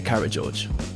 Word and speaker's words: Karageorge: So I'm here with Daniel Garner of OG Rose and Aspasia Karageorge. That is the correct pronunciation.